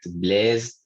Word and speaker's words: blessed: The following ed words used as adjectives are pronounced it. No, aged, doge, ragged, blessed, learned, wicked, crooked, naked, wretched, yeah, wretched. In this case, you have to pronounce like that, aged, dodged, wretched.